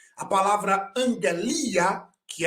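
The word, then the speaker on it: ἀγγελία: angelia que é mensagem Observe que as duas letras de vermelho do seu lado esquerdo são dois Gamas do seu lado direito foi transliterado como MG então a pronúncia dessa palavra é angalia que é mensagem notícia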